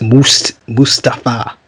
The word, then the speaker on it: Mustafa: It's Mustafa.